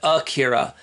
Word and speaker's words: Ikira: right here it's spelled ekira but they always pronounce it akhira I think they wanted to name this guy